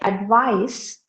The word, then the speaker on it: advice: Like the words, when you say, for example, when you say advice, ADVICE, you know it's noun. But when you say advise, ADVISE, you know that is verb. So with the changing of the parts of speech, you are changing the pronunciation.